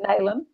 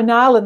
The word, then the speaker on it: Nalin: His name is spelled Nalin. Which I would have said Nalin. Yeah. But she was like, no, Nalin. I'm like the fish Marlin. She's like, no, there isn't an R in it. But I'm like, well, you pronounce it with an R.